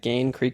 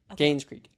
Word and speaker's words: Gaines Creek: They went to the uh the uh Gain Creek Invitational, I think is how you pronounce it. Yeah, Gain Creek Invitational. And uh the women or Gaines Creek, sorry. Sorry. Gaines Creek.